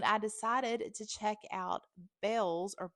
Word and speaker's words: Bealls: I was on my way to Target when I decided to check out Bells or Bills instead. It's spelled Bealls.